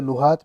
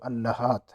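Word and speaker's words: اللهاة: Number پہ ہے اللحات، اسے لحات بھی پڑھا جاتا ہے لیکن عربی میں اصل اس کا تلفظ جو ہے وہ اللحات ہے۔ تو یہ ایک عضو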